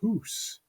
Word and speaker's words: house: similar sound so h-o-u-s-e in Chaucer's time was still pronounced who's you mentioned Charles seka's